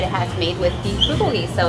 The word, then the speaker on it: bulgogi: Yeah, the bulgogi. Bulgogi. That is how it's pronounced.